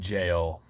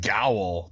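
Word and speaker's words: gaol: if you're lucky anyway Moran jail or as I used to think it was pronounced Moran go because it's spelled g a o l I have experience with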